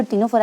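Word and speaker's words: Ctenophora: ये जो टीनोफोरा है इसके अंदर सी साइलेंट है।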